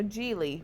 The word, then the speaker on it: Gigli: okay so Larry jeie you know jeely rhymes with really is supposed to be